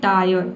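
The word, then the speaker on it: tire: अब देखिए rule number five है कि यदि किसी वर्ड में आई आर इ एक साथ हो तो आई आर इ को हम क्या पढ़ेंगे? आय और पढ़ेंगे। ठीक है? यहां पे भी आधा र को आपको साइलेंट रखना है। केवल आय पढ़ना है।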